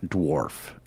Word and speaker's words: dwarf: By the way, it is pronounced dwarf. D-W-A-R-F. Dwarf. Or whatever you want to say, Chris. I think it's dwarves. We've learned so So- much on this podcast about how to pronounce things I can properly. never say dwarf. It's Dwarf. too many syllables. There should be one. It should be one syllable.